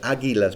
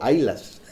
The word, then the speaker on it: águilas: aquí deuteronomio 32 y me aseguro muy bien de pronunciar águilas porque mi familia siempre me dice que digo haylas así que no se